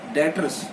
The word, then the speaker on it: debtors: Another example, if we have डेटर्स, यस, DEBTORS, डेटर्स, यहाँ पे भी साइलेंट है बेटा, इसे डेटर्स बोला जाता है।